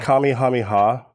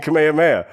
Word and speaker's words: Kamehameha: Shaman sensei tries his like Kamehameha wave, and the challenger just fucking plays chin music. I think it's pronounced Kamehameha. I'm Hawaiian. There's a royal king. I know. King Kamehameha.